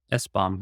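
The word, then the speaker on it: SBOM: software build of materials or an es bomb as I like to pronounce it and what that is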